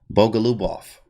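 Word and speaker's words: Bogoljubov: the guy from the bogo indian bogalubof that's how you say it but it's very hard to say obviously and it's yephim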